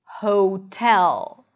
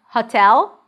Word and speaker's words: hotel: So the sound is more in the back, the lips are a bit more rounded. Lonely, hotel. So it's not hotel, not an ah sound, not O, hotel.